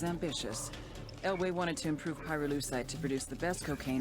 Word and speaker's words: pyrolucite: yeah neither did I pyrolucite key syllable pyro by the way is